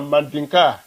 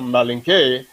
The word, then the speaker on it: Mandinka: And in Guinea, you may say Mandinka or Malinke, but they themselves will say a Mandinka. You usually don't hear them say a Malinke I think that was the French way of pronouncing the name.